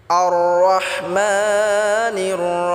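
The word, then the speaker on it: الرَّحْمَٰنِ: আর রহমা, রহমা, আর রহমা বললে হবে না। আর রহমা হলে এটা সুডুহা হয়ে যাবে, তখন এটা ভুল উচ্চারণ হবে। রাহ এটা গলায় চাপ দিয়ে উচ্চারণ করতে হবে। মা এক আলিফ টেনে পড়তে হবে।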